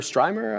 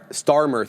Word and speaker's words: Starmer: Um uh he did obviously uh entertain Kier Kier Stryimer. I don't know how to say his name, man. Kier Stryimemer. Kier Stymer. Starmer.